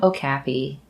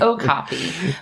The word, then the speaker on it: okapi: Which I also had to look up how this is pronounced because my entire life I've been calling them Okapi. Likewise. I've been saying it wrong, and so have you. Well. It's Okapi.